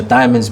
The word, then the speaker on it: Die Mondez: and the music yes and the diamonds being uh uh like a an indication of how to say my name yeah i was like